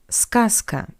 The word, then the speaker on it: сказка: For example, in the word сказка, which means fairy tale. Just look, the voiced consonant Z stands before the voiceless consonant K. That's why we pronounce Z as its voiceless analog S.